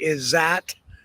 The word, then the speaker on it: Izatt: Isot. I call her ESOT. Is Z- A T. It might just be Isat. I've heard it pronounced Isat, but I think it's Isot. It's just my opinion.